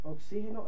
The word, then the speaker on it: oxígeno: lleva del n oxígeno oxígeno es una palabra que lleva tilde en la i porque es esdrújula Entonces nos vamos a